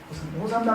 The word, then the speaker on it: 호산나: 이 호산나는 히브리어에서 음을 따온 것입니다. 히브리어에서 음을 따온 게 많아요. 할렐루야, 아멘, 호산나 이런 것들은 히브리어에서 그대로 음을 따온 거예요. 그래서 히브리어로 정확하게 발음을 한다면 호쉬아나 그렇습니다.